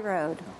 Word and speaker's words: Ward: Road. But it's spelled Ward.